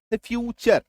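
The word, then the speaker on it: future: जैसे मैं आपको एक एग्जांपल से बताऊं फ्यूचर है ना एफ यू टी यू आर ई फ्यू चर राइट तो यहां पे आप देखिए टी टी का नॉर्मल जो उच्चारण होता है वो ट होता है ना लेकिन यहां पे क्या हो रहा है चर ये देखिए है ना फ्यू चर ठीक है सिमिलरली देखिए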